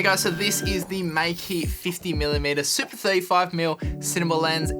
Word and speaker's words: Meike: I was saying Mica before, but it's actually Meike apparently, because the actual people at Meike emailed me and they were like, it's not Mica, it's Meike. This is how you say it.